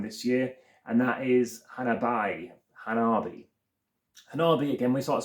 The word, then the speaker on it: Hanabi: what they say but Hanabi because it does look hanab or otherwise of saying it Han a I've heard a few ways of saying it but Hanabi is how it's said correctly and lastly I do